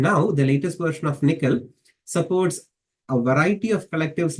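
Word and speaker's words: NCCL: is what is called the nvidia's collective communication Library pronounced as nickel uh it gives you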